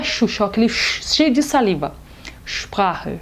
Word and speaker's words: Sprache: outros, como por exemplo, o ST e o SP no início de palavras não são pronunciados de forma seca, eles são pronunciados de forma cheia, como se fossem o nosso X, como por exemplo, Sport, Straße, Sprache, Stunde. O brasileiro tem a mania de falar Stunde, Sprache, nada disso.